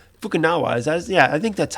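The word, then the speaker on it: Fukunaga: bond fan a guy directing it kerry joji fukunawa fukunawa yeah i think that's how you say it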